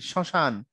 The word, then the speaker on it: শ্মশান: যে কথাগুলো আমরা বলি শ্মশান তখন কি হয় শ্মশানে মফলা থাকার কারণে ঝোক পড়ে উপরে চন্দ্রবিন্দু নাই কিন্তু বফলা মফলার নিয়মে তোমরা পড়ছো কোন কোন শব্দে ম ফলা থাকলে সেখানে উচ্চারণের কি হয় একটু নাসিক্য ধ্বনির প্রভাব পড়ে পড়ে সুতরাং নাকও আমাদের বাঘযন্ত্রের